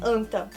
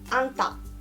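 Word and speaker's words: あんた: E a pronúncia não é anta, tá? É anta.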